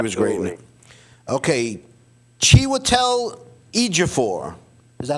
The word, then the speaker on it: Chiwetel Ejiofor: Okay, Chiwetel Ejiofor. Is that how you Good pronounce job.